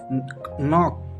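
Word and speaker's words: knock: नॉक के एन ओ सी के के यहां पर साइलेंट होता है।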